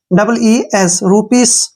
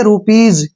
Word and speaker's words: rupees: है, इसको हम अक्सर गलत पढ़ते हैं, RUPEES, रूपीस, गलत है, ठीक है ना। जब भी S से पहले EE आता है तो इसका सारे का जो उच्चारण है वो जय होगा। इसको हम पढ़ेंगे रूपीज।